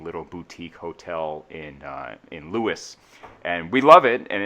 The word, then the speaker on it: Lewes: look for me in Lewes Delaware Lewis spelled by the way l e w es and for like non Delaware people you would say lose but then they'd be very quick to correct you the other thing that